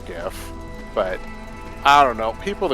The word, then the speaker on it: GIF: fine for animated, but Is that a hard or soft G? I can't make it out. that is well, it's supposed to be a hard G, for GIF, but I don't know.